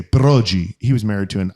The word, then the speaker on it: Broggi: So, my grandfather, when we came through Ellis Island, they pronounced it Broggi, Italiano.